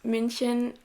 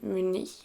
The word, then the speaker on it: Munich: So yeah, the first destination I went to with my boyfriend was München, or Munich, I guess it's pronounced in English, in Germany.